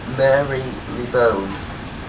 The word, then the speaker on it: Marylebone: Marylebone is how I say it, I don't know. It's Marylebone, but pronounced Marylebone.